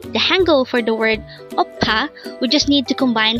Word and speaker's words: 오빠: is O and the second syllable is PA pronounce it with me again a word for today's oppa and this is used to say brother and